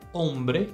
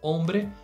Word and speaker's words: hombre: agora a gente tem uma palavra que começa com a letra h mas o som Inicial é de o porque o h não tem som no espanhol vamos lá a palavra